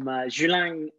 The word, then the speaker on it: Julang: everyone today we are speaking to tiffany from zhulang digital ventures is that the correct pronunciation tiffany yes perfect it's only taken me